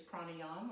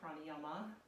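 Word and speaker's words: प्राणायाम: Breath practice in Sanskrit is pranayama or pranayama. It's pronounced both ways.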